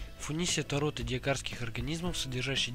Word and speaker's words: Funisia: газете в 2008 году родовое название фуни происходит от латинского верёвка и произносится в рифму с тунисом видовое название доротея дано